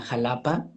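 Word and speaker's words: Xalapa: como en esta ciudad donde vivo se llama Jalapa, se escribe con X, pero por un acto ahí de rebeldía, ¿no?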